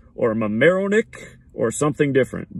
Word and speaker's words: Mamaroneck: I don't know if it's Mamaroneck or Mamaroneck or something different. But M-A-M-A like Mama, and then Roenick like Jeremy Roenick, the hockey player. R-O-N-E-C-K.